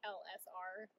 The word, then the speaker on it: ELLESSARE: It's spelled out all fancy like, but it's pronounced LSR, Landon, Sherry, Robert.